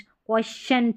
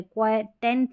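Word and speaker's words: quotient: और ये है क्वेश्चंट है, क्वेश्चंट, क्वेश्चंट है, क्वेटेंट नहीं पढ़ना, क्वेश्चंट।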